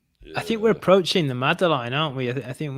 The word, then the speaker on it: madeleine: Right, so I think we're approaching the madeleine aren't we?